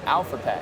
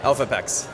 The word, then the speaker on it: Elphapex: Is it Elphapex or Alphapex? Elphapex.